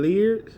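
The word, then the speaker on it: Laird: We got the Eastman and Lear.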